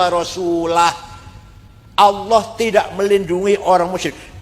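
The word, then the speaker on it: ورسوله: Nah ono maneh ono wong moco Quran salah. Wa annallaha barium minal musyrikina wa rasulih. Allah ora melindungi tidak melindungi orang musyrik dan tidak melindungi rasulnya. Rasulullah salah. Yang benar bacanya wa anallaha barium minal musyrikina rasulah.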